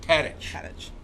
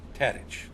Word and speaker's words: Tadich: Tadich. Tadich. Okay. Like Tadich's Bar and Grill in San like Francisco. okay, or like Tadich is a stitch, right?